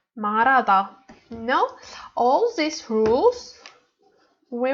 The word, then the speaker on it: 말하다: 말하다. 말하다. But why 말하다? We say because we don't read hu sound, and we combine li plus a. A is vowel, so we read this word like 말하다.